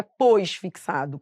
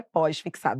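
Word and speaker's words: pós-fixado: Só que a pronúncia correta é pósfixado.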